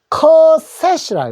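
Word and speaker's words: cassette: S자 두 번이 있더라도 한 번만 소리 낸다는 것하고 맨 뒤에 있는 E는 소리 내지 말고 소리를 내십시오. 트라고 한다는 거 아시겠죠? 그래서 카세트라고 하는데 영어로는 커셋.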